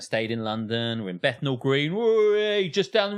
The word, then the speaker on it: Bethnal: It's Bethnal. Bethnal. Bethnal. Very good. An F sound in the middle, W sound at the end.